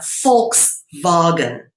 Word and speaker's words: Volkswagen: So, for example, I'll use one here, Volkswagen, right? The V is pronounced as an F in English, and the W is pronounced as a V in English.